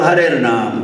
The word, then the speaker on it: Harir Naam: So Harir Naam, that is the correct pronunciation.